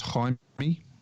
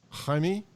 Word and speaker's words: Jaime: That'll be pronounced Jaime. Jaime.